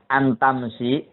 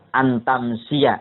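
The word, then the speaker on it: أن تمسي: Antamsi untuk menjadi olehmu. Antamsia harusnya. Cuma karena syair antamsia, maka dibacanya antamsi.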